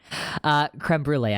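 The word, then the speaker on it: crème brûlée: Creme brulee, I do know that's how you pronounce the word.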